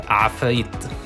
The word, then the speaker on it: Ifrit: And coming from an Arabic country, Ifrit is pronounced Afrit.